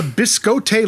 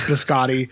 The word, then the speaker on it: biscotti: background noise chatter and i honestly don't know if nick cage doesn't know how to pronounce biscotti if he thinks the character of evan lake wouldn't know how to pronounce biscotti if paul schrader doesn't know how to pronounce biscotti and didn't see anything wrong with it i